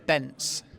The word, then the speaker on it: Benc: It's pronounced Bence. So I'll give you one of my business cards. I've even put in brackets, rhymes with fence, so everyone can know.